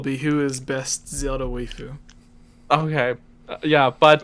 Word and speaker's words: waifu: I think this the title of this video will be "Who is best Zelda waifu?" Okay. Yeah, but We're pronouncing it wrong. It's waifu. Waifu, Like waifu. your waifu, like wafer cookie.